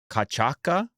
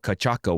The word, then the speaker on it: cachaça: I didn't know what cachaca was either. Cachaça, whatever. How come they got the C pronounced like "k" at the beginning and the C pronounced like "s" at the end?